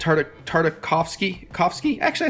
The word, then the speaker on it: Tartakovsky: see it right indie Tartikoff it's hard a Tartakovsky coughs key actually I said it right genndy